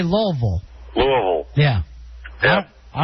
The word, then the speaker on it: Louisville: And if you're from out of town, you'll hear either Louisville or Louisville. I've always called it Louisville, like a Louisville slugger, right.